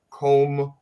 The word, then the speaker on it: Comb: a southern dialect sometimes so it's comb over here the B is silent um but how how